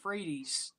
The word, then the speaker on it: Frates: happy to have Christian Freight's on hello Christian thanks for joining me tonight you're welcome my last name is actually pronounced Fredy fredes well thank you